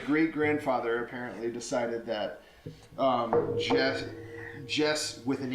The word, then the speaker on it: Jesse: So my name is Jess. It's not Jesse? There is an E there, but it is just Jess.